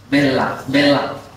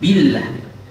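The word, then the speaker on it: بالله: Tidak menjelaskan kasrah pada huruf ba pada billah serta pada harokat lainnya. Bella. Nah, ada taklilnya atau ada imalah sedikit bella a'udzu bella tapi billah.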